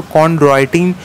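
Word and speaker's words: chondroitin: ठीक है, CHON कॉन्ड्रोइटिन, ड्रॉय Android आप बोलते हैं ना, ड्रॉय DROI कॉन्ड्रॉय, कॉन्ड्रॉय।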